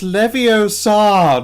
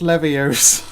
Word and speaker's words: Leviosa: supposed to be pronounced its Leviosa not levears actual um my first